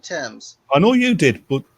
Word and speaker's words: Thames: in it got onto Americans try to pronounce Thames they all say themes I said Thames I know you did